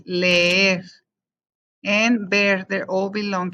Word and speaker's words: leer: And also whenever you say leer, you're actually pronouncing both E's or both S, leer.